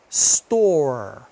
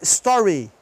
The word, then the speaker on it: store: Ó, have, store. Olha só. Se eu falar com o Y, se eu falar o Ezinho aqui no final, have vai virar heavy. E se eu falar o store, vai virar story.